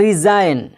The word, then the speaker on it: resign: अब साइन, साइन में यहाँ पे क्या है, जी के बाद एन आया है तो जी क्या हो गया, साइलेंट हो गया। इस तरह रिज़ाइन, इस्तीफ़ा देना, यानी अपने आप को जो है किसी मतलब कहीं से छुट्टी ले लेना।